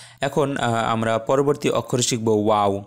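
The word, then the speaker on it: و: ফাঁকা থাকবে এরপর আস্তে করে বলতে হবে ওয়াও ওয়াও এখানে ও তারপরে আকার যখন আমরা বলবো তখন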